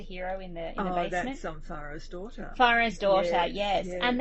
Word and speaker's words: Faro: No, I think, is it Faro or Pharaoh? It's a card game. I think it's Pharaoh. It's Pharaoh, yes. It's spelled Faro.